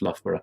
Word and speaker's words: Loughborough: Pseudonym's description of himself in his blurb as doing security studies at Loughborough University.